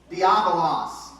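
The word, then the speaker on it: διάβολος: E esse nome no grego é como é que pronuncia? Diabolos.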